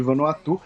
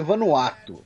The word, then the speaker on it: Vanuatu: E lembrando assim, que o nome teoricamente correto do país é Vanuatu, né? Porém, para mim as duas pronúncias estão corretas e a gente costuma falar Vanuatu aqui só para marcar também, né?